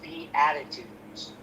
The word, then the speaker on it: Beatitudes: Oh, pronounced b attitudes. Beat the attitudes. Emphasis on the on the A.